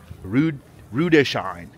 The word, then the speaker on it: Rüdesheim: There's no N. Rüdesheim.